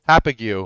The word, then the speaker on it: Copiague: Long Island Copiague what how do you pronounce that happy Cube um happy Q yes half of you um